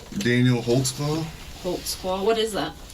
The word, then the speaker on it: Holtzclaw: there cuz I don't even know how to spell it how do you say your name Daniel holtzclaw holtzclaw what is that it's a German speak